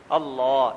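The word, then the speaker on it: الله: لفظ اللہ ہے نا، عربی میں اس کا تلفظ کریں تو طریقہ یہ ہے کہ زبان کو مفخم کریں، موٹا کریں، اللہ، یعنی اللہ نہیں، اللہ، اللہ، اللہ اکبر۔ یہ اللہ ذوالجلال اتنے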